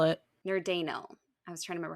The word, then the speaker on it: Nerdanel: Nerdanel. I was trying to remember how to say it. Nerdanel. It literally looks like the word nerd, and then Anel.